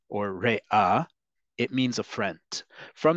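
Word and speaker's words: רֵעַ: Another word for a friend in Hebrew, which is a really nice term, is rea or rea. The pronunciation is important here, folks, because if you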